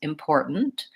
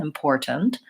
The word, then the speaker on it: important: Americans pronounce it now I can say important with my T sound in the middle important but Americans will typically say important where they will stop that T and so when I'm